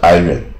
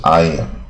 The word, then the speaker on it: iron: 像铁也是嘛，iron 也不是 iron，是 iron 啊，这种比较特殊